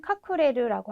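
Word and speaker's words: 隠れる: 카쿠스라고 읽어주시면 되겠죠. 뭐 이거의 자동사는 카쿠레르라고 하는 자동사도 굉장히 많이 쓰이잖아요.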